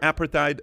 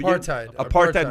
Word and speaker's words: apartheid: oppressive uh uh uh uh how do you pronounce that word apatite regime which say that apartheid which is apartheid is what like you know